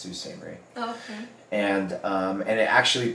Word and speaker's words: Sault Ste. Marie: Marie, but it's pronounced Sault Ste. Marie.